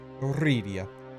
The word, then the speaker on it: Eurydia: Roll your R's when you roll your R's. Yes, Eurydia.